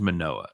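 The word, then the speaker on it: Manoah: about irvin gets murdered by that time you pronounce it right it is manoa the other one is mania oh he's strong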